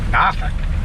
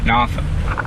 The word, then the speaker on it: Norfolk: Norfolk. Norfolk. Is that how you say it? It's how people in Norfolk say it.